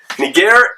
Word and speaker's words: Niger: actually translated the word but here's the deal nageire means black in greek and that's the truth